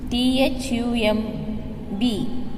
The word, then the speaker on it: thumb: T-H-U-M-B, thumb. Here B is silent.